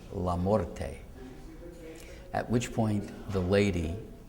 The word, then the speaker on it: LaMorte: church so I then pronounced the name the way it should be pronounced namely lorte at which point the